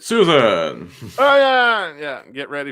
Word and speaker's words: Sossego: He pronounces it Susan.